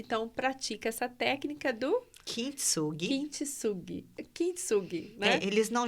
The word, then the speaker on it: Kintsugi: Como que pronuncia isso? Kintsugi.